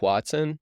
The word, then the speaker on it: hoatzin: the the am I saying it right the Watson yep okay so Shannon you suggested doing this bird and I wasn't familiar with it and the more we've been researching like this is we're so excited H Watson is one of the most interesting birds I